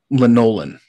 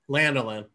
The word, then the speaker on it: lanolin: cocoon butter shea butter linolen also uh yeah linolen um so very what lanolin lanolin excuse me uh so very similar